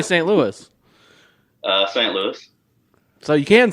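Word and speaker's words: St. Louis: louis how do you say st louis uh saint louis so you can say yes yes kansas and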